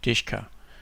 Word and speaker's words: DShK: triple-a but this one called DShK and it's pronounced ishka and that's pretty much